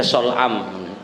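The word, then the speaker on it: صلعم: Ini shad lam ain mim, bacanya sol'am. Karena yakra'u fid zuhri fil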